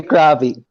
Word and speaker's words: crappie: had bluegill suckers shiners pronounced crappy crappy crappy yeah we said copier always we say crabby what I allowed to